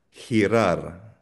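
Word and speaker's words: girar: Hente or hirar hirar umikot to turn.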